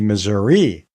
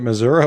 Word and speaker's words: Missouri: The correct pronunciation should be Missouri. But Grandpa and his family knew that Missouri was correct, and so they stuck with it. And so, well, I'm thinking that maybe both pronunciations are okay.